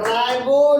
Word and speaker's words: ribo: Nucleic वगैरह राइबो nucleic acid, चूंकि रिबो है, राइबो न्यूक्लिक आप अपना अपना उच्चारण है, RIBO है, तो रिबो या राइबो जो बोलना रिबो न्यूक्लिक एसिड।